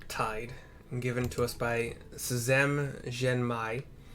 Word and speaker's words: Szem Zhenmai: given to us by Szem Zhenmai. It's the best pronunciation. It could be Zhem, S as in Sam, Z-E-M, Zhem Zhenmai.